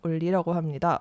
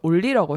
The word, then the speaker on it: 온리: 온리인데 그냥 우리나라식 발음으로 하면 올리라고 해도 될 것 같아요.